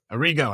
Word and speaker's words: Arrigo: Arrigo.